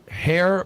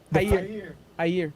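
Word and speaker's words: Jair: to political supporters of hair ball Naro right is that how I pronounce it hair with J is that Portuguese yeah Hayer Haier okay Hayer bolsonaro the far-right former president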